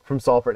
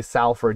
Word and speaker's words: Salford: So he's from Prestwich, which this means something really dramatic to somebody from Salford. And you if you ever say Salford, you get stabbed. There's it's salt, it's Salford.